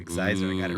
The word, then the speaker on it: Xizor: I like, Xizor.